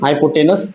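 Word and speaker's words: hypotenuse: हाइपोटस ना हाइपोटेनस बोलते हैं हाइपोटेनस।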